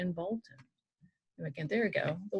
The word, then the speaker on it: Bolton: When you say the name Bolton, you kind of say the L and you kind of don't.